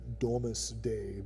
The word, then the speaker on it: Domesday: But since we're talking about these things, the Doomsday Book, or the Domesday Book as it's actually pronounced, is a collection of business records from, I think it's like the early 1200s, or maybe even before.